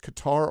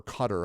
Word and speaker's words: Qatar: Any of my Canadian um viewers and friends, man, they Canada just obliterated um and it's either pronounced Qatar or Qatar. I've heard it announced both pronounced both ways.